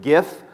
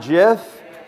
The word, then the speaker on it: GIF: Just a little bit before we start, let you know I am Team Hard G. I pronounce it GIF, not GIF.